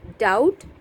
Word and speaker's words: doubt: Doubt, B is silent.